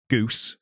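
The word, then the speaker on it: Ghüs: yeah but no it it does a very clever way of telling you how it's pronounced CU he says the name just written like you reading the comic and you just he written and then robot the fourth goes Goose like Goose no no goose and then that's how it tells you that that's how it's pronounced by someone getting it wrong but the spelling is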